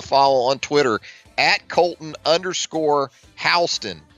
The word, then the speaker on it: Houston: give Colton a follow on Twitter at Colton Halston it's pronounced Halston spelled like the city Houston h u s